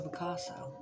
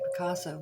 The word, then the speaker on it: Picasso: Consonants after the vowel, it should be like ass, Picasso. Huh. Yeah. I always say Picasso, but if you look at the way it's spelled, it should be Picasso.